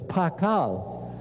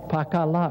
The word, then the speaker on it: Pakal: it's a shield but it's got an l sound on the end of it so it's pakal with a l there or another way of